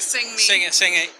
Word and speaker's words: Sang-A: Did I pronounce that right? Sang-A.